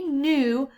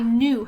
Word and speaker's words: knew: cannot we say mmm the K is silent they eat only says